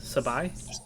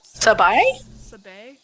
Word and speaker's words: Sabai: speaking of that and sabi uh sabae i i'm sorry i don't remember how to pronounce it what did we say it was sabai sabai we're very flexible if